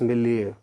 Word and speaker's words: milieu: ही और शी was brought up in religious मिलिeu। तो word क्या है जी? मिलिeu। बड़ा प्यार से प्रोनाउंस करना आपने, सॉफ्टली।